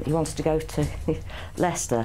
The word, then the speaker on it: Leicester: how to get to laser store um he wants to go to Lester he pronounced it Lester do you mean Lester yeah yeah yeah he